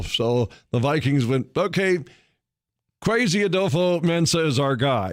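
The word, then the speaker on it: Kwesi: to know is is crazy adofo mensah that's first name is spelled k-w-e-s-i but crazy uh a dofo mensah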